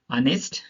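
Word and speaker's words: honest: ओ के पहले आया एच साइलेंट होता है, ओ के पहले आया एच साइलेंट होता है। चलिए एग्जांपल देखते हैं। Honour, ऑनेस्ट, आवर, इको।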